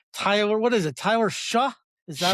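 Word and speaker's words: Shough: Tyler Shuck. Is that how it's pronounced? Shuck.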